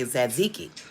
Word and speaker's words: tzatziki: It's actually spelled with a T, but the T is silent, so we say tzatziki.